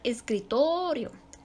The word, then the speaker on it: escritorio: Por ejemplo, tenemos la palabra escritorio. No se le pone tilde, no se le pone acento, pero ahí recae la sílaba tónica, en la sílaba to. Escritorio.